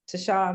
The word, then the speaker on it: Ta'Sha: far as me on any social media uh to shaw really is tasha is my name is pronounced to shaw but it's pronounced tasha on any social